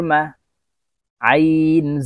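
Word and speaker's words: مَعَ: খালু, খালু, মিম জবর মা, আইন জবর আ, মা আ, আইনকে চাপ দিয়ে হলকের মধ্যখান থেকে উচ্চারণ করতে হবে।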